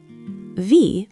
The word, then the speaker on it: wie: The E in V is a long E sound, like in see.